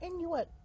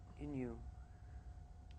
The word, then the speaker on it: Innu: Inuit. Innu. There's no T though. It's like Innu.